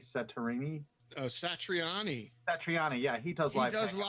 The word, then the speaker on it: Satriani: I do a hangout with them um Joe sarini sarini oh sat Satriani Satriani yeah he does live he does live